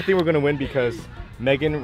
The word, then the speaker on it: Megan: I think we're gonna win because Megan rhymes with bacon.